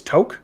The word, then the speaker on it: toque: that you're correct that toke is the more accurate pronunciation the thing is is